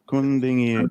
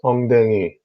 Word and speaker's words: 엉덩이: Kundingi. Not. Oh, God. By the way, whatever you are saying, that's not how you say it. It's ongdengi. 엉덩이.